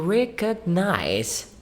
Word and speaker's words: recognize: I tended to pronounce it like recognize without the G sound. Is Yeah. that okay? Yes, it is. Yeah, recognize, both would be the same thing. Native speakers tend to forget the G.